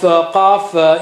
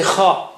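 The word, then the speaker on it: ق: Don't say ka and don't say kha. Kha is not, kha is different, qa is different, ka is different.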